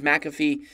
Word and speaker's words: McAfee: amount that john mcafee some of you guys may pronounce it McAfee but even though phonetically it looks different it is McAfee he charges a hundred